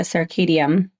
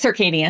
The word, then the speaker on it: circadian: And you mentioned a few times when you were talking about the circadium, is that how you say it? Circadian.